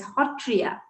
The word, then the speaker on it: Sattriya: satria gets pronounced as hotriya satra s-a-t-t-r-a gets pronounced as hotro so ho this particular sound is very peculiar to our language and the sanctum center